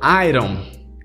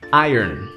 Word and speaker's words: iron: importante a palavra e se você falou Ai ROM e você é fand Iron Maiden Provavelmente você falou o nome da sua banda errada vida toda o correto para essa palavra é ayer ayer Oi e aí não